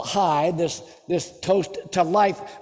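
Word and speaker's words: חי: it judaism pronounces it chi or actually hi it's like that's looks like c-h-a-i but it's actually pronounced hi and the meaning of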